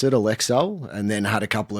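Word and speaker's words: Alecell: I'd pronounce it Alexcel and then had a couple of people say, "Hang on, this isn't quite right.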